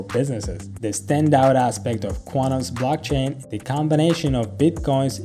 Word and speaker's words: Qtum: shiba ino is kutum the ticker is qtum which is pronounced quantum according to coin market